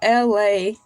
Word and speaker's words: Elay: Welcome to LA TV. My name is LA, pronounced like LA, like the city.